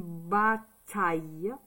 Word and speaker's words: bataille: Ça fait bas. Bat, ta, ta. Ça fait bata. Le son yeux, c'est I, double L, E. C'est comme le son, par exemple, du verbe je travaille. Ça fait aïe. Aïe. Donc, une bataille.